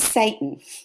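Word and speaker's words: Seyton: what is that noise this is Satan which I found very interesting Satan it's not spelled like SATA n Satan but this is the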